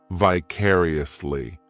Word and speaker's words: vicariously: The third syllable, it's like that letter I just has that E sound, and the fourth syllable has the schwa, vicariously.